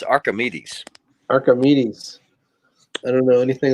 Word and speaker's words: Archimedes: Archimedes? It's Archimedes.